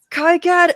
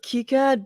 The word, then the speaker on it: KiCad: cad and open sgad i said kai kad and then i said kicad because people have corrected me on this apparently the team that develops kikad is french and